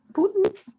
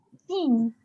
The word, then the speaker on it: Puțin: Pentru Putin? Not for the Russian president. Putin. Putin? Puțin. Pentru puțin.